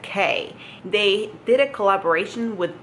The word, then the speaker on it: Quay: They're called K glasses, but they're spelled Quay. But you pronounce it K.